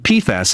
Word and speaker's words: PFAS: country including military bases where high rates of pfas have been discovered yeah that's how you say